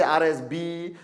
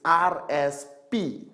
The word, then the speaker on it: RSP: I met some people from some countries, they say RSB, RSS. It's RSP, Retail Sales Points. Retail Sales Points. Don't have to remember. Remember RSP. Simple. Alright? Okay? RSP.